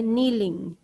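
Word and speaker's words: kneeling: झुकने को कहते हैं नीलिंग व्ट इज कॉल्ड नीलिंग के साइलेंट के N double E एल आई एन जी आई NG form हम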